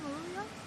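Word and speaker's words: Moruya: had lots of experience growing so we've got maruya top dogs is that how you say it marua yeah mar mar down the South Coast avalone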